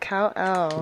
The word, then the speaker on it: Kal-El: Kal-El.